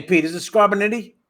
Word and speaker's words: Scarpiniti: you say your last name pete is it scarborough nittany it's scurpinity right okay it's capable it's skirts in an